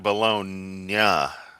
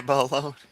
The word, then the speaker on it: Bologna: Okay, yeah, Bologna. Gotcha. Say it like the Weirdo song. My Bologna.